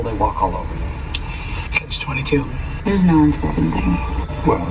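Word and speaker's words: Catch-22: favorites is Catch 22 this is two words it's a compound noun the word catch is just one syllable and then 22 is three syllables and the stress is on that final syllable Catch 22 the word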